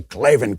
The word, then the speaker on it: Klavan: I sent you and say it like that. Say Klavan, K-L-A-V-A-N.